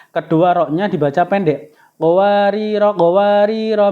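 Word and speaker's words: قواريرا: yaitu akhir ayat 15 Jika wakaf rnya dibaca panjang awal ayat 16 r-nya dibaca pendek jadi baca ya qowariro qowariro min fidoh itu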